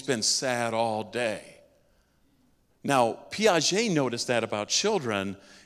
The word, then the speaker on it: Piaget: So we called him Pigott, and we thought, that's cool. He's got pig in his name, farm kids. It turns out it's more like Piaget. I don't know if I said it right or not.